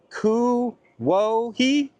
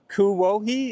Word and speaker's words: Kuwohi: Kuwohi? Kuwohi is how I think it's supposed to be pronounced, which means mulberry place.